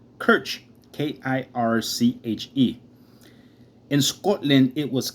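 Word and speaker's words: Kirche: comes from an old english and german word pronounced kirch k-i-r-c-h-e in scotland it was cook k-i-r-k the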